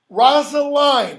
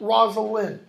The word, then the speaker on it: Rosalind: it's complete okay so then you have Rosalind rasa line not Rosalind okay who is the